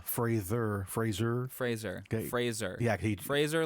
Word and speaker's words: Fraser: Fraser Fraser Fraser yeah Fraser like Razer yeah because he's been he's been going out now and saying you guys been mispronouncing my name for my whole career yeah it's Fraser and and they have